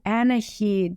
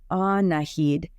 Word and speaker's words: Annahid: Oh, Annahid, she says, She doesn't get any further because Coda comes out and carefully yet confidently interrupts her. Actually, my mom's name is pronounced Annahid.